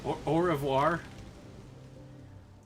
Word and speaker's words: au revoir: You gotta, like, sound like you're hacking up a lung to speak French sometimes, you know?